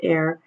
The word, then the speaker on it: are: hectare is used instead of hectometer squared and air is used it's pronounced air and it's used instead of the deca-meter squared